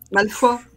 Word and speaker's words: Malfoy: Donc, et si vous voulez nous dit qu'on prononce Malfoy, comme ça. Malfoy.